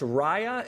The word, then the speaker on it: Raya: It's pronounced Raya and the Last Dragon, correct?